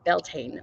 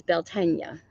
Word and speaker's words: Beltane: And on May 1st, we celebrated Beltane, or as Americans call it, Beltane. But I found the true pronunciation of Beltane that happens on May 1st is Beltane.